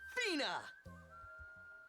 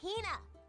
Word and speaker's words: Hina: And this young lady is my traveling companion, the esteemed archaeologist, Fina! Ugh, you keep saying it wrong. It's Hina.